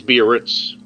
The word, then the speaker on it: Biarritz: And it says, you know, it's an El Dorado Biarritz. I'm not sure how to pronounce that. Biarritz. This is Biarritz.